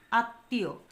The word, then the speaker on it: আত্মীয়: নাসিক্য স্বর আসে যেমন আত্মীয় আত্মীয় এখানে কি হসছে ত এর সাথে ম ফলা যুক্ত ছিল আমরা যখন উচ্চারণ করলাম তখন এই ত এর দুইবার উচ্চারণ করেছি দেখো এখানে উচ্চারণটা লিখেছি আত্মীয় এখানে নাক দিয়ে বাতাস বের হয়েছে যেটা চন্দ্রবিন্দু দিয়ে প্রকাশ করেছি পদ্ম পদ্ম এখানে দেখো